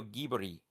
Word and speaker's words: Ghibli: Studio Ghibli or wait, Studio Gibbery. That's That's how it's pronounced. Yep. We saw a video studio Gibi Castle in the sky sketchbook hard cover.